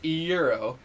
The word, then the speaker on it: gyro: the food, like the GYRO. flatbread, Oh, okay. a gyro. I'm sorry, I live in the Midwest. It's pronounced euro.